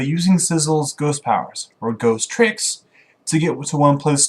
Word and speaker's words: Ghost Trick: lot of fun with this game number six ghost tricks Ghost Trick Phantom detective yeah that's how you